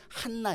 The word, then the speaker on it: 한나: 우리는 간 나예요 자의 않나 라는 발음은 헬라어 입니다 헬라어 발음으로 않나 라고 하지만 히브리어 발음을 하면 한나 입니다 자 아무리 세상이 영적으로